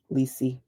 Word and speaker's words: Liy: "I don't know, Liy." she replied, using the nickname pronounced Li that I had since I was very young.